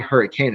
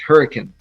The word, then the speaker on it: Hurricane: like hurricane yeah and the way you pronounce it no it's not hurricane it's hurricane that's right i pronounce